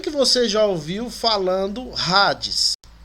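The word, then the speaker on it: Ἅιδης: Então, na hora de pronunciar também, a gente pode optar por usar o som, a sonorização, a fonética do H do inglês, para diferenciar e a gente até entender que é uma aspiração áspera, um espírito áspero.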